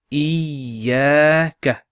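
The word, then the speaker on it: إياك: there's a Ka, and the Ya has a Shadda on top. So that Shadda represents two letters. So we pronounce it Iyaka.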